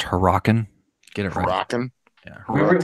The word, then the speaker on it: Hurricane: they call it hurricane mm-hmm actually Jim it's pronounced her rockin get it from bottom we really like to